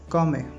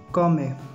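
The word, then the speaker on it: come: तो आपने किसी से कहना हो कि कैसे, तो आप उसे इटालियन में प्रोनाउंस करेंगे कॉमे, कॉमे, कॉमे।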